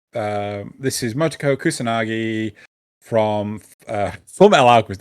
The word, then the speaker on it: Motoko Kusanagi: So Makoto, right? So I keep on calling her Makoto. It's not. It's Motoko. It's Motoko Kusanagi. Fuck! I keep on getting her name wrong.